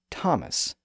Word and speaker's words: Thomas: The same thing happened with names like Thomas, T-H-O-M-A-S, and Teresa, T-H-E-R-E-S-A, and Esther, E-S-T-H-E-R. Those names were used in Greek and followed the same general path as a word like time. Their pronunciations changed within Latin and then remained that way in English.